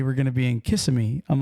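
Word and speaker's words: Kissimmee: similar right it it reminded me of a town here in Florida that everybody Mis mispronounces when you first see it and that that is CMI CMI Florida especially the little kids and everybody when they see it they say kiss kiss kiss me Kissam me Florida in fact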